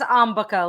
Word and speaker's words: Ambika: It's different because in English, we're used to stressing the second syllable. This is not English, so Yeah. yeah. There you go. Don't worry about it. It's just Ambika.